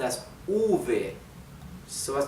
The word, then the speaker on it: uve: Letter V. It's called uve. Uve. Why? To distinguish it from B, okay?